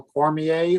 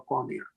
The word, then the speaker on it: Cormier: Or we have, is it a French pronunciation or English? Cormier or Cormier? Cormier.